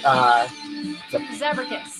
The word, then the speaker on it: Zabracus: How do you pronounce it? Zabracus.